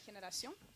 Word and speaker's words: Generación: How do I pronounce it properly? Naturgy Generación.